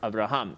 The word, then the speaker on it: Abraham: So we say every word has an accent. It's either it's either on the last syllable or second to last. So most words on the last syllable abraham. It's not abraham. It's not on the ra. It's on the hum. Abraham.